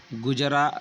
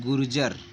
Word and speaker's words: गुर्जर: पढ़ा आपने अभी पढ़ा गुजर गुजर प्रतिहार है ना तो गुजर नहीं है उसका नाम है उसका नाम है गुर्जर ठीक है उसका उच्चारण